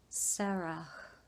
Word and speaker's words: Sarah: of many nations, and in the Hebrew language, the H is very breathy when pronounced. Just an interesting insight is all. Sarai also received a new name, Sarah. You hear how I said the H? It's just a Hebrew thing.